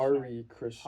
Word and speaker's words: Hare Krishna: Hari Krishna. Hari Krishna. Yeah. It looks like it would be pronounced that way, but it's called the Hari Krishna chant is called a Maha Mantra.